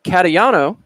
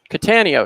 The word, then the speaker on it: Catania: So big welcome to Tom Catayano. Catania, excuse me.